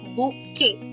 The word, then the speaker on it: bouquet: It's borrowed from French, which is why it's pronounced as bouquet. So the most important rule is you must you must notice we are not pronouncing the last letter. The first the most important French pronunciation rule is the last letter rule. In French, most last letters are silent. We do not pronounce the last letters.